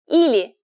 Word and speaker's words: или: Pronounced ili.